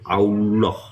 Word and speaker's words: Allah: sehari-hari sehingga menjadi alilah diucapkan sebagai Allah kemudian ditafkim atau ditebalkan di sini menjadi Allah Ya itu Nah kalau